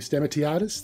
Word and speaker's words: Stamatiadis: No, Steve Stamatiadis. That's the the one of acceptable pronunciations, if not the correct one, but that's what we go through.